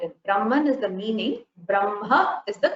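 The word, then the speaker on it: ब्रह्म: the spelling is but the pronunciation is makara first brahma so makara first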